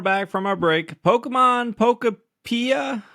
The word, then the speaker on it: Pokopia: Pokemon Pokopia. How you say it, Clau? Pokopia.